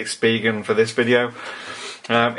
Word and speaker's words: Spigen: the Spigen I've been told that's how you pronounce it speak and I always said Spigen but anyway let's say Spigen for this video um it's the iPhone 5